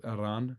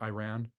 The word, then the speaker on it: Iran: So in Iran so it's actually pronounced Iran not Iran but yeah explain how Catholic Church how split and we have the Orthodox side.